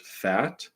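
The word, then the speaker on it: fête: there's this word here it's I believe French it's f-e-t-e I think it's pronounced fat it means to honor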